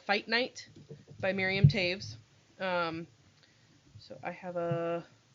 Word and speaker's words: Miriam Toews: author her name is miriam taves and that's spelled t-o-e-w-s which is a mennonite name i o w t o e w s t o e w miriam taves is how you pronounce it um i read